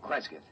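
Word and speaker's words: Cresgyth: is um well i'll i'll spell it c-r-e-s-g-y-t-h kresget what's that local that's his phonetic interpretation of the name the people here use fair enough if that's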